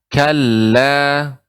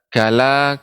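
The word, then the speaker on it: كَلَّا: pengucapannya coba Ibu ucapkan kalah Nah demikian jadi dibaca dengan kala tidak kalah kalah namun kala Nah demikian Coba sekali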